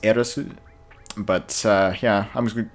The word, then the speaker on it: Aerith: I mean, even though I'm gonna call her Aerith, even though technically it's pronounced Eris.